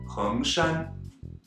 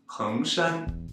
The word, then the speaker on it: 衡山: The third is Hengshan, Mount Heng in Hunan. Heng is a second tone, so be sure to rise up high enough to meet the first tone with Shan. Hengshan, Hengshan.